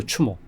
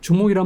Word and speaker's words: 추모: 추모 추모죠. 추모. 음. 정확한 명은 추모예요. 그거를 주몽이라고 우리가 중국 사료나 삼국 사료 삼국사에 써 있는 건데 주몽이란 말은 저는 싫어해요.